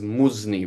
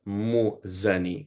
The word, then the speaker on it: Muzani: It says Muzni, but it's Muzani. So the Arabic has Muzni. It's not Muzni. Muzani with a fatha.